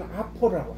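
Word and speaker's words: opera: 아, 이거 오페라고 읽으면 안 되고요. 영어로 오페라는 아퍼라고. 아이고, 아파라 비슷해.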